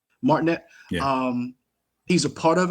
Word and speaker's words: Martinet: Martinet. Martinet.